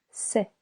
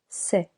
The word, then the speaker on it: sait: Il, elle, on sait. Silent T. Nous savons. Vous savez. Je sais. Silent S. Tu sais. Il, elle, on sait.